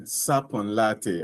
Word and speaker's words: Sarpong Lartey: So, my name is Sapon Latte. Um, it's fine if you don't It's very fine if you don't get a pronunciation very right.